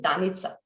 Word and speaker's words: Danica: and um and also my name is danitsa because we are yeah my name would pronounce Danica and uh about